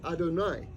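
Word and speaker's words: אֲדֹנָי: of Hashem is spelled Al and that's actually pronounced Adonai in fact um but it's not yud and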